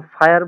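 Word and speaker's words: Feuer: তাহলে হচ্ছে এখানে উচ্চারণ হচ্ছে কি? ডয়েস, হ্যাঁ। তারপরে আমরা আরেকটা কি বলতে পারি? যেমন ফায়ার বলি না ইংলিশে আমরা, এটা এফ হচ্ছে আই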